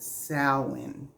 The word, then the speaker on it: Samhain: a it's actually called sa it's not spelled that way but that's how it's pronounced and sin is a pagan celebration